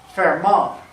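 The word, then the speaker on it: Fermat: okay cruising on no this guy's name is fair ball you don't pronounce it from that that makes you sound like a complete doofus so from up for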